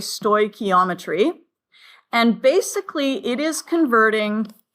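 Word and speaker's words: stoichiometry: were away on Friday it is pronounced sto ometry okay sto ometry and basically it is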